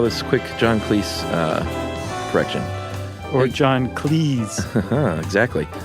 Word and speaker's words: Cleese: He noted that his name is pronounced to rhyme with cheese rather than fleece. In fact, his surname was originally Cheese, but his father changed it to Cleese.